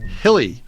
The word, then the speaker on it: Hille: and my guest this week is hilly with Azure agency how you doing really